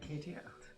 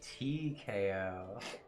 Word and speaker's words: TKO: I said KTO. What's the issue? The issue is that that's not what it is. It's KTO. Oh, it's not. It's TKO.